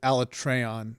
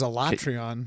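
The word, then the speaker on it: Alatreon: okay the dev diaries they pronounced it alec treyon and i was like oh that's right i always thought it was a latrion but okay get your tray on but it's it's still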